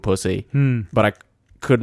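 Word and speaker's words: Psusy: I love Pussy. But it's not spelt pussy, it's just pronounced pussy.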